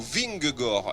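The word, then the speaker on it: Vingegaard: on va jusqu'au bout vinggor il y a pas le D on prononce pas le D et c'est Jonas vraiment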